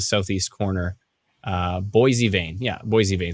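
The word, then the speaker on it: Boissevain: into the the southeast corner uh boisevane yeah boise vain says sandy thank you so much you pronounced it correctly says northern ice dragon thank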